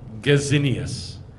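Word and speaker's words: Gesenius: Nehemiah Gordon calls him Gazinius. I don't know which is the proper way to say it. I say Jacinius. Gazinius is how he pronounces it, because he was German.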